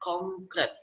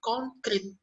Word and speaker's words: konkret: ada kata konkret Nah itu dilafalkan dengan betul dengan menyebutkan huruf e konkret bukan konkrit jadi konkrit itu adalah ee bentuk yang salah dan cara pelafalan yang salah seperti itu k yang